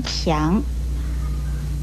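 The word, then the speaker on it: 爿: 与片字字形相反的是这个强字，强字的国语注音是七阳强二声强。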